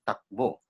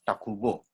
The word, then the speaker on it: Takbo: The barrio's name was Takbo. The Japanese pronounced it as Takubo.